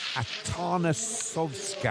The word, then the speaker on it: Atanasovska: And a brave performance from Atanasovska, I think is the correct pronunciation of Jana's surname.